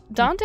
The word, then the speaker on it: Dante: playing as the vampire Cersei or the werewolf Dante. Dante, I pronounced correctly, right?